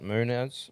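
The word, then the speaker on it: Munhoz: How do you fucking pronounce that? Munoz. Munoz. Munoz. Yeah, Munoz.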